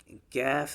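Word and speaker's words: كاف: But kaf is a thin letter, qaf is a thick letter.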